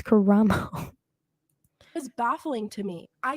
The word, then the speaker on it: Karamo: It was Karamo. There's an O at the end. It's Karamo, unless I'm saying it wrong, but I'm pretty sure it's Karamo.